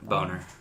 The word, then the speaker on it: Boehner: line he's better than John Boehner boner it's that's how it's pronounced bar it's definitely Boehner